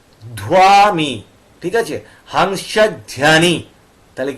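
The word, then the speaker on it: Hansa Dhwani: ওয়া ডি এইচ ডব্লিউ এ ধায়মি ঠিক আছে হাংসা ধ্যানি তাহলে কি হলো হাংসা ধুয়ানি স্টুডিও আর এখানে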